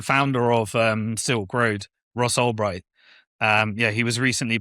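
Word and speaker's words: Ross Ulbricht: Is that how you pronounce it? Albbright. Ross Albbright.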